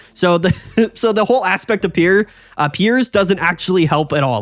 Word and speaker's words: Piers: point of Obstagoon is Pierre's, right? Or Piers, I think as some people told me this card is pronounced.